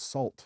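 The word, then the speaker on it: SAULT: Um what they called Salt, but it's spelled S A U L T.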